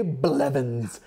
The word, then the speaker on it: Blevins: I feel like you should hit the blah a little harder. Ray Blevins.